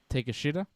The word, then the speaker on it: Takeshita: okay he's good this takeshita yep i i found out if you say his name like in english it comes out a bit differently but yes take a shooter there you go takeshita